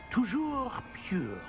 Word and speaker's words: toujours pur: Toujours pure.